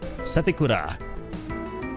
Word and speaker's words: Sephiroth: Kind of a fucked name to like pronounce. Sephiroth.